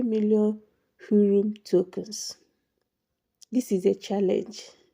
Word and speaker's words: Hrum: In today's video, I'm going to talk about Hrum Airdrop, or Hrum, whichever one. I think the H is silent, so whichever one. How to get 3 million Hrum tokens.